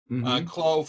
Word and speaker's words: Clos: Clos, French, C-O-L-S. You see, you don't pronounce the S, I'm told.